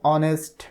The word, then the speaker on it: honest: এখানে দেখো উদাহরণে বলা হচ্ছে অ্যান অনেস্ট ম্যান। এই যে ওয়ার্ডটার দিকে একটু খেয়াল করো, HONEST, অনেস্ট। অনেস্ট এটা শুরু হয়েছে কি দিয়ে? কনসোনেন্ট দিয়ে, কিন্তু এটার উচ্চারণ হচ্ছে অনেস্ট, এইচ এর উচ্চারণ হচ্ছে না।